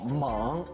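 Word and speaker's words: 獴: 我先纠正一下读音，这个字呢是三声叫蒙，而且呢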